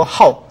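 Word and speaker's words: 好: 매우 좋아한다 배우는 것 그래서 발음이 이때는 하가 아니고 How 제 4성을 읽어집니다 그래서 그는 배우는 것을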